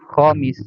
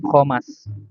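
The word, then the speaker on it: خامس: Maka kita tahu dibacanya khomis, ya kan? Khomisun. Karena kita tahu dia itu masuk ke wazan fa'il, ya. Jarang-jarang kita yang udah terus belajar bahasa Arab membaca dengan khomas.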